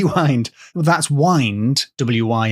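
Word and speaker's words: Wynd: is a Wanderer so I'm going to go with wind because that's the modern Scottish pronunciation of so apart from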